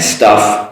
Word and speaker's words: stuff: Staff, a person working in the group, and stuff, your things.